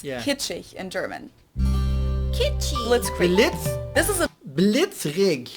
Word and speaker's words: Blitzkrieg: We pronounce it Blitzkrieg in German, and it Blitzkrieg.